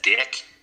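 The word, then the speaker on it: Dyck: His last name is said Dick. It's spelled D-Y-C-K, so it could be said Dyke or Dick. He said he's screwed either way.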